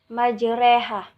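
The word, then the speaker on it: مجريها: lahir kabupe habis Milah nah cara membacanya yaitu road to digantikan dengan re rok majroha digantikan menjadi reh karena tapi kita agak ditekankan dan disamarkan kaya setelah kayak kita tuh mendengar majreha majreha yang kedua yaitu Isim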